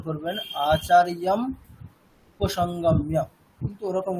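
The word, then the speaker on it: आचार्यमुपसङ्गम्य: সন্ধি বিচ্ছেদ করে দিই, আচার্যম উপসংগম্য এরকম উচ্চারণ করি। মানে আচার্যম এটাকে আলাদা করে দিই, উপসংগম্য এটাকে আলাদা করে দিই, ওরকম উচ্চারণ করা যাবে না, একসাথেই করতে হবে। আচার্যম উপসংগম্য।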